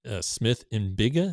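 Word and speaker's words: Smith-Njigba: So the one that got me yesterday was Jackson Smith Mbiga.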